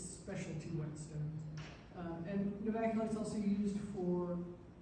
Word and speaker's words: Novaculite: So I pronounce it Novaculite, but it is now used for whetstone art.